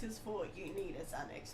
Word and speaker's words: Xanax: If someone if someone said to me spell Xanax, I'd definitely start with a Z.